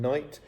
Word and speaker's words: knight: G and K are silent if they come before N. Now these words would sound the same without the first letter, gnome and knight.